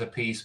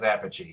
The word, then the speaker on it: Appice: That's never ceased to bother me that he says Appice, but Vinny says Appice.